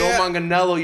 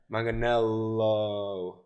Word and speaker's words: Manganiello: Joe Manganiello. Gaga. John, no, you're Joe. I'm getting there. Joe Manganiello. You're missing you're missing Relax. 4 syllables. You're missing 4 syllables there. Yeah. Manganiello.